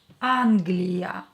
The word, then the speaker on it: Англия: Англия. Ударение на А. А is stressed here.